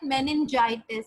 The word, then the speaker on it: meningitis: In 1936, at the age of 3, he contracted meningitis. How do we pronounce it?